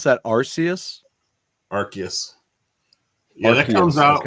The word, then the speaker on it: Arceus: You pronounce that Arceus? Arceus.